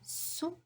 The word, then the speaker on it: sous: Après, on a sous la table. Sous. Again, I don't pronounce the S, so I ask you to cross it in class, right? Sous la table, it means under the table.